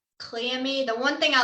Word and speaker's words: Cleome: So you pronounce that Cleome.